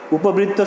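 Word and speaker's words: उपवृत्त: উপবৃত্ত, আচ্ছা, উপবৃত্ত শব্দের উচ্চারণ হবে উপবৃত্ত, এভাবে উপবৃত্ত, অর্থাৎ পয়ের সঙ্গে যে অ রয়েছে সেই অয়ের উচ্চারণ হবে কিসের মতো, ও এর মতো হয়ে যাবে।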